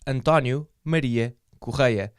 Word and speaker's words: Antonio Maria Correia: on the coast and tanya media ko kya that is anton you midea ko kya that's how my name is pronounced in case you were